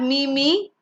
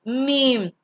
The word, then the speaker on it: meme: The next one is, it's not me, it's meme.